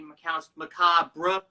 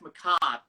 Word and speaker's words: macabre: word macabre was actually macabre, but I'm just like, no, that's macabre. It wouldn't rhyme. Yeah. If it had bruh at the end, it wouldn't rhyme with job.